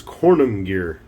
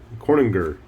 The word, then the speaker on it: Konungyr: that is the nord's kornum gear corninger i don't know i do know that corning conan gear if i can pronounce the word correctly is supposed to be like an old norse term for a king or something along those